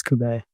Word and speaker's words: Cube: Well, Cube is my name, but uh I always just say Cube. It's It's easier, flows better. So, it's spelled Cube, but it's it's Filipino, so it's Kubet.